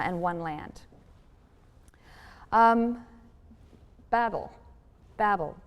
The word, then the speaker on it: Babel: one land um Babel Babel pronounced bavel in Hebrew is Babylon the tower in the